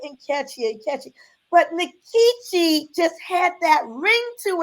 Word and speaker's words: Nkechi: very names and so I decided to keep my pronunciation nikichi as opposed to because I theorized well